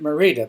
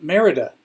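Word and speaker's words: Mérida: uh merid early in my stay I was pronouncing it merid but it's called Merida Mexico I'm not far from downtown the center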